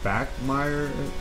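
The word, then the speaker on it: Bachmeier: run through this Maxwell trophy goes to Hank back Meyer that's how you say it the Boise State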